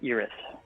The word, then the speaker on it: Iris: Yeah, Iris, like Erie, but Iris.